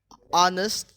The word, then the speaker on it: honest: H can be silent in certain words, often at beginning. So, the example is the silent after W, when, why, and whistle. At the beginning of the word, honest and hour.